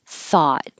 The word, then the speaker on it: though: taut the same in thought but with a th thought i taught i thought i taught on thursday though all this ough here is just oh though even though caught